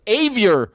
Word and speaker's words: Avior: All right, guys, thank you so much for everyone, and thank you, Chase Avier. At least I've learned that. Like, it rhymes with bad behavior.